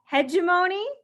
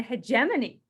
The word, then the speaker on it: hegemony: So I've heard this word pronounced as hegemony and hegemony. So take your pick of your pronunciation, but in terms of